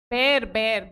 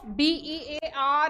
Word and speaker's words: bear: Bear नहीं होता, वो bear होता है. See, this pronunciation of B-E-A-R and B-E-E-R. B-E-A-R is always bear.